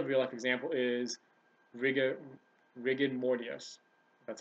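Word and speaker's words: rigor mortis: this is another real life example is rig rig morus that's how you pronounce it when someone first dies their muscles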